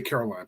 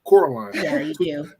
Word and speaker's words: Coraline: yeah cor cor sorry I say Caroline but Coraline 2009 versus number 78